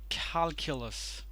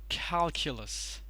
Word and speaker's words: calculus: care not Q care calculus stresses on the first syllable calculus calculus okay this one